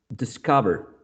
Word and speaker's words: discover: Take a look at the word discover. Discover has 1, 2, 3 syllables. For words of 2 or 3 syllables with one of the following prefixes, the prefix here in this word is dis. That's the prefix, right? The stress usually falls on the second syllable. 1, dis, 2, ka.